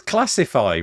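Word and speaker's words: Classifai: It's so obvious it's classify, right? But I just can't say it for some reason because of the way it's spelled. So it's C L A S S I F and then AI capitaliz.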